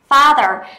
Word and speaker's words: father: bố đó là father father thì chúng ta sẽ phải đọc như thế nào chúng ta sẽ phải đọc là far far farther farther nhưng chúng ta đọc farther là sai rồi đúng không nào nó